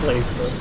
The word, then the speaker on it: BlazBlue: It's pronounced Blaze Blue, but it's spelled Blackbird. There's no E.